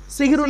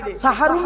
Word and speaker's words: সাহারি: কোরআনে আছে হাবি সিহরুন মানে জাদু করা আর সিনে জবর দিলে দন্তেশ আকার দিলে সাহারুন শব্দের অর্থ হল রাতের শেষ অংশের খাবারকে আরবিতে সাহারি বলে তাহলে শব্দটা কি হবে সেহরি না সাহারি জোরে বলুন তাহলে ভুলটা